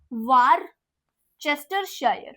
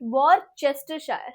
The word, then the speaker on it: Worcestershire: They pronounce it as Worcestershire. Worcestershire.